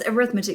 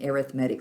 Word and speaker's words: arithmetic: you may say that's arithmetic ms harris i know that word yes if it's a noun like i am studying arithmetic but if it's an adjective as an arithmetic sequence you pronounce it arithmetic so there is my